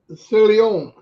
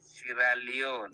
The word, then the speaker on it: Sierra Leone: Can you pronounce what part of Africa? What was called Silla? How do you say it? Silion. Silion. It's SIERRALEONE, Sierra Leone.